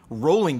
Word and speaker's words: Rowling: Man, Rolling got cocky the other day on Twitter.